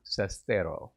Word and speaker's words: Sestero: Sestero, right?